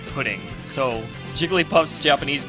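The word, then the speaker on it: プリン: uh Jigglypuff's Japanese name it looks like it's spelled as purin or ptin but it's actually an incfi version of pudding so Jigglypuff's Japanese name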